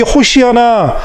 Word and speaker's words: 호시아나: 이 말씀에서 나오는 여호와여 구원하소서, 이 히브리어 원래 발음은요, 호시아나입니다. 여러분들 이 호시아나 어디서 들어보신 것 같지 않으십니까?